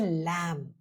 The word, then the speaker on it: lamb: Now B goes quiet when it follows M at the end of a word. Think of the word lamb. Most of the time I've heard people calling it a lamb. But that is wrong.